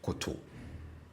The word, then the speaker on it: koto: So for the stative form of this same verb, the tone on both syllables are low. So I say koto, koto, koto.